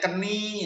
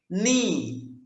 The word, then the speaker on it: knee: Tapi kalau ada KN ini maka K-nya dianggap tidak ada, itu nggak usah dibaca.